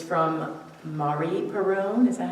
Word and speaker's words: Marie Perron: It's from Marie Perron, is that how you say it? M-A-R-I Perron. Marie Perron, thank you.